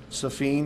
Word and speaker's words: Safine: First name is Safine, that's how he pronounces it. It's Safien.